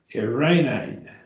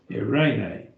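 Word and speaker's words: εἰρήνη: Irene, Irene, Irene, and that is peace, peace. And that's nominative case again. If we drop the eta, make it eta sigma, Irene, be of peace or from peace or originating with peace.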